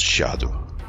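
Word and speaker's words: Scadu: Yeah, I found out that Skadu is actually pronounced Shadow, but I still think that Skadushout sounds better.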